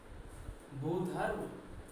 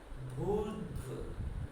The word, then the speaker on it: भूर्ध्व: देखो बताएं क्या है ये, भूधर्व या भूधर्व, कुछ भी बोलना है बच्चों, इसको भूधर्व नहीं बोलते, भूधर्व भी नहीं बोलते, इसका उच्चारण होता है भूर्ध्व, भूर्ध्व, भूर्ध्व, भूर्ध्व।